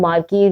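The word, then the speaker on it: marquee: मार्की basically इसके spelling ये देखें, ये इसको प्रोनाउंस करते हैं मार्की, ठीक हो गया।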